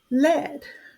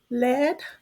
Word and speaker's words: lead: it rhymes with bed lead mechanical pencil rhymes with bed next slide this word